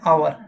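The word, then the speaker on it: hour: अगर हम बात करते हैं इस वर्ड की एन आवर। यहां पर भी साइलेंट होता है।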